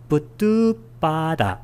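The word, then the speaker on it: buddhuppāda: 붓다, 이 붓다하고 우빠다, 이게 출현인데 이 아하고 우가 만나면 이렇게 우로 바뀌어요. 연성이. 그래서 멧데이야 붓두빠다 이렇게 발음이 됩니다.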